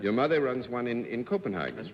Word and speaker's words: Copenhagen: Your mother runs one in Copenhagen.